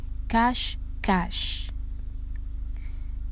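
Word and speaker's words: cache-cache: hide and seek in french is cash cash c a c h e and what is cash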